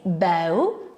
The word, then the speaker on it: bow: write of course but we can pronounce it in two different ways we can say bow and a bow is a noun and it is